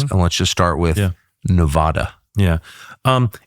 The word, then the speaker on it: Nevada: It's Nevada. Like Vlad. And it's Nevada.